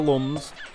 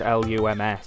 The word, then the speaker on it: lums: So we've got all the lums. That's how you should pronounce it because it's L-U-M-S. So I thought it wouldn't be looms, so it's lums, I guess.